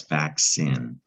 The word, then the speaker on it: vaccine: But because this C is followed by an I, that's definitely going to be a soft C sound, making an S. So that's vaccine.